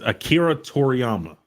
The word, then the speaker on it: Akira Toriyama: Akira to the how you pronounce that it's Akira Toriyama the creator of Dragon Ball Z oh RP